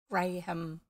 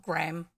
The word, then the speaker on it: graham: a gram gram cracker graham graham that's how you say it the way it's written not gram anyway tough um graham